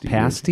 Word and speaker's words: pasty: Pasty? Yeah. Yeah, pasty. It's like a pastry? It's like a pastry without an R, and it's pronounced dumb.